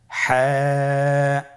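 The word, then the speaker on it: ح: হা হরফটি কিভাবে উচ্চারিত হবে? হা হরফটি উচ্চারিত হবে কন্ঠনালীর মধ্যখান হতে।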